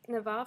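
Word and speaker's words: Нева: Then ships could sail from the little Neva, is how you say it in Russian, Neva fortress to Europe.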